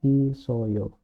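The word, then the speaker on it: 있어요: bak e jadinya bake isoyo tulisannya kan is it oo tapi snya k sudah ke sini Jadi isoyo sekali lagi jangan bingung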